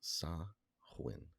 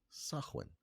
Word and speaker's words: Samhain: And it is pronounced Sah-win. Sah-win.